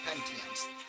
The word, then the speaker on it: Pentiums: That's how you pronounce it. Pentiums.